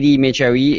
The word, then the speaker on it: Medjaoui: Yeah, Elie, Chevignard, and Mehdi, Medjaoui, yes.